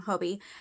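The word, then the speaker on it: Hobii: first ever order from Hobie it looks looks kind of like hobby but it's spelled h o b i i um and I think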